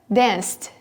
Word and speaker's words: danced: Bem, existem 3 diferentes pronúncias para os verbos regulares no inglês. E essas pronúncias são pronúncias que os brasileiros, estudantes de inglês, têm bastante dificuldade de reproduzir, porque eles tendem a não pronunciar o ed. As 3 pronúncias que nós temos desse ed são t, d e id.